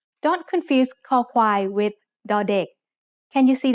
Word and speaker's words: คอควาย: คอควาย makes the sound k when it's the initial consonant in a syllable. It sounds like the letter K in kite or the C in cup.